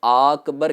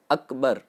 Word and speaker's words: اکبر: تو یہ غلطی ہوگی۔ دوسرا یہ ہے کہ اکبر کو آکبر کہہ کر کے بھی پڑھتے ہیں، تو صحیح اس کا جو تلفظ ہے کسی بھی حرف کو کھینچنا نہیں ہے، اکبر یہ نارمل انداز میں اس کو پڑھا جائے گا۔ اور تیسری غلطی ہوتی